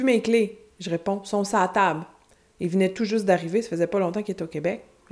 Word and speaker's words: s'a table: Mais j'ai dit non, son sa table. Sur la table, sur à table, sa table. Et on le prononce avec un A un petit peu plus long.